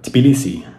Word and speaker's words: Tbilisi: river that runs through the capital of georgia tbilisi and let's just take a moment to appreciate